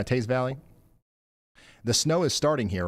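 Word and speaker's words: Teays Valley: Game on in the, how do you say this? Is it Taze Valley? Yeah, Taze Valley.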